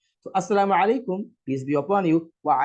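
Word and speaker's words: السلام عليكم: Now, correct pronunciation say Assalamu, Assalamu alaikum, Assalamu alaikum.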